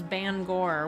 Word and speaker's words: Bangor: I learned the correct way to say it is Bangor.